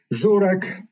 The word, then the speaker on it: Żurek: And of course, the master of the coherence is Żurek, that's the Polish correct pronunciation of Wojtek Żurek's name, who wrote so many